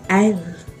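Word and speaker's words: aisle: पहला वर्ड है है एल look at the spelling S है लेकिन उच्चारण एस का नहीं करना है एल इज द स्पेस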